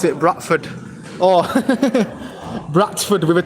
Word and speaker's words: Bradford: If we wanted to, we could say Bradford, but I don't know, it's our natural thing to say it without the D.